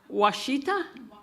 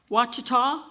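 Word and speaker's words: Wichita: Washittita Witchita it's a it's Indian Witchah Baptist University followed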